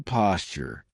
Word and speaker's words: posture: Grace used to be a dancer, so she has wonderful posture. Notice how I pronounce it? Posture. That's because a T and a Y sound together make a CH sound, like in Tuesday and tuna.